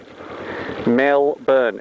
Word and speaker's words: Melbourne: by talking to myself nobody calls it melbourne except for tourists and you can give yourself away very easily as a tourist by calling it melbourne it's melbourne mel burn everybody say it with